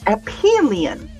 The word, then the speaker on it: Aphelion: So it's Aphelion. And Disa says that he's got that tab up too. It's been a busy day. And Carl said, I need to get over to Aphelion.